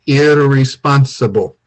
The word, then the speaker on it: irresponsible: Okay, we say it differently in English. We say irresponsible. So no rolling the R in English. Okay, and you always say with this one, able, responsible. The E is silent.